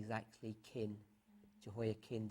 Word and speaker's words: Jehoiachin: Jehoiachin, we normally say Jehoiachin, but his pronunciation is actually kin, Jehoiakin. The CH is actually a bit tricky in the Hebrew.